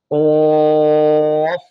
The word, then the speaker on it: ق: কফ এ হরফটি মোটা হবে, মুখের খালি জায়গা থেকে উচ্চারণ হবে না, এটা আমাদেরকে মনে রাখতে হবে। কফ, কফ।